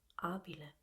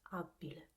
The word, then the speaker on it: abile: Because they should be pronounced with a single consonant. As you say, they are not double consonants, but in Rome area and near in the south, they tend to double these consonants while they speak. So instead of abile, it becomes abile, or regina becomes regina,